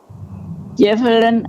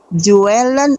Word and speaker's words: juwelen: geheime grot vol goud, juwelen en andere kostbaarheden. Bukan juwelen. Tunggu, stop. Bukan juwelen karena Y itu ya, juwelen. J ditulis dalam bahasa Indonesia bacanya J di sini Y.